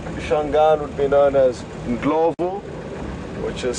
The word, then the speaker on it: Ndlovu: Elephant in Shangaan would be known as Ndlovu, which is spelled Ndlovu.